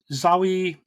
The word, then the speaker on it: Zawe: We've got Zawe, I think you pronounce her first name, Ashton, who plays a character called Dar-Ben.